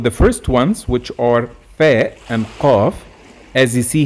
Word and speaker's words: ف: of its name so the sound of fair is just same as the f in english type let's take amphila examples